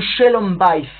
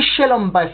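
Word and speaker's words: שלום בית: Et donc, j'ai bien dit Shalom Bayit et non pas Shalom Bayit, comme c'est souvent prononcé, puisque ici, le terme Shalom est à la forme construite. Shalom, c'est le mot absolu, mais à la forme construite, Shalom devient Shalom.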